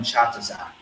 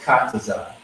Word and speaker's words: Katazai: So a lot of people, call in, they mess up his name, they call him Chatazai. You know what I mean? It's Katazai.